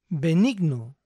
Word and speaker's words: benign: sigamos con los extras esta terminación I g n siempre se pronuncia ain ain imaginen que la G en este caso es muda A son pocas